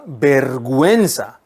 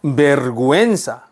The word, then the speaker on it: vergüenza: 네, 여러분 구에 해우에면 원래 뭐 해야 돼요? 게 우가 발음 안 돼야 돼요. 근데 요 위에 뭐가 있습니까? 점 두 개 콕콕 찍혀 있죠? 이걸 diéresis라고 한다 그랬습니다. 그죠? 우를 생략하지 마라 라는 표시. 우 생략 안 됩니다.